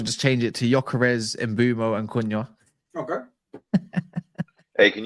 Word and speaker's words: Mbeumo: I spell it wrong every time, bro. Because his name is not it's Mbeumo.